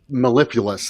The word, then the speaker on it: mellifluous: How do you pronounce- Mellifluous. Mellifluous.